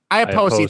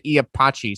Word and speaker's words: Iapoce: I always pronounce his name wrong. Vinny, do you remember how to pronounce his name? Iapoce? Iapoce, thank you. I'm glad, because I was going to say Iapachi, so I'm definitely wrong on that one.